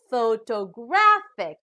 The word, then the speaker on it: photographic: pronounced as photographer now the third word also has four syllables but this time the stress is on the third syllable so we pronounce this as photographic now we know already